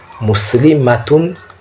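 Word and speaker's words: مُسْلِمَاتٌ: Et le mala est bref, matun, muslimatun. Le ma est bref, tandis qu'au pluriel, on dit muslimatun. Le ma est allongé.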